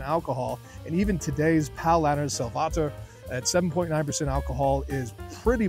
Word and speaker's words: Salvator: me to review Paulaner Salvator, or as you may hear it pronounced sometimes in the United States or some parts of the world, Paulaner Salvator, or in Germany it is pronounced Paulaner Salvator.